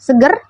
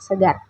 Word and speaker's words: segar: Dalam pengucapan segar, A pada kata segar sering diganti dengan vokal E, seperti pada video, menggunakan kata seger yang seharusnya kata segar.